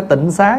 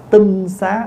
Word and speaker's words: tinh xá: Đất sạch cho nên chúng ta thường gọi là tinh xá tinh xá chứ không phải Tịnh Xá nha Bây giờ mình